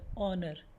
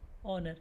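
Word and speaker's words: honour: इसको प्रोनंसिएशन देख लीजिए ऑनर एच ओ एन ओ यू आर एस ऑनर एच यहां पर साइलेंट है सम्मान देना डिस ऑनर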